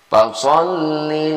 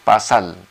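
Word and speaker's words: فَصَلِّ: Fasol ini sod. Sering sekali kita dengar sahabat-sahabat kita membacanya pasal. Nah, padahal di sini so.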